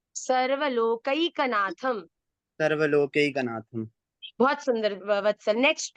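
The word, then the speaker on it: सर्वलोकैकनाथम्: उसको हम शांताकारम भुजग शयनम पद्मनाभम सुरेशम विश्वाधारम गगन सदृशम मेघवर्णम शुभांगम लक्ष्मीकांतम कमल नयनम योगिभिर्ध्यानगम्यं वंदे विष्णुम भवभयहरं सर्वलोकैकनाथनम सर्वलोकैकनाथम।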